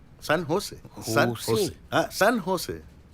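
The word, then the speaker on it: San Jose: ও বাবা, সান জোস? সান হোসে, সান হোসে, হ্যাঁ সান হোসে। জের উচ্চারণটা এইচ এর মতো হবে, সান হোসে।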